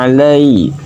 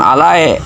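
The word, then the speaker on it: عَلَيْ: Awas, harus diingat, suara ya sukun itu bunyinya i, bukan e. Nah, maka dibacanya alai, bukan alae.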